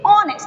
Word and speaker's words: honest: girl a wishy honest not honest how to pronounce it honest it is silent here right okay how is